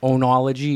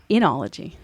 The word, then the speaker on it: enology: the my oo oo that's how I say it like onology onology but that's enology enology so maybe this is